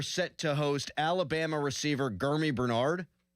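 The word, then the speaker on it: Germie: But the Steelers today are set to host Alabama receiver Gurmy Bernard. I believe it's a hard G, not a soft G.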